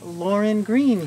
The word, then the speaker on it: Lauryn Green: of an LGBTQ horror film by the great Lauryn Green here. Did I say your name wrong?